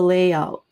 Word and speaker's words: layout: And similar to mock up is the layout. It's also we we stress the first syllable, layout.